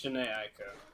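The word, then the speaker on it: Jhené Aiko: It's Janae Aiko.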